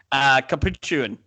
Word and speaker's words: capuchin: Capuchin. I'm not sure why you're adding an extra syllable.